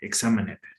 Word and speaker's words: examined: No me pronuncies el NED, examined.